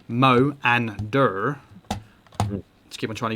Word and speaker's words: Moanda: So Moanda, pronounced Mo and Dur.